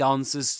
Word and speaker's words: answers: It answers to me. It's not ants were not ants were the this letter the W here or the the the sound W is not pronounced is silent.